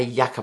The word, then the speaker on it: yucca: it's the Natasha Denona YUCCA palette, although it could be pronounced yucca palette as well.